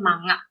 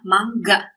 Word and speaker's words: manga: Kita kan biasa seringnya bacanya manga. Yang benar adalah mangga. Ini dibacanya mangga ya, bukan manga.